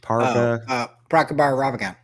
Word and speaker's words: Prabhakar Raghavan: Prabhakar Raghavan.